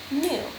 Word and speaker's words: knew: the long u sound new k n e w that's that silent k k n e w new okay let's try another